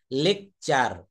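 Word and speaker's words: lecture: তালগাছ তারপর যেমন দেখেন শব্দে টি থাকলে শব্দের ভিতরে যদি কোথাও টি থাকে টি এর পর যদি ইউ থাকে তাহলে টি এর উচ্চারণ চ এর মত হয়ে যাবে কেমন লেকচার লেকচার শব্দের অর্থ হচ্ছে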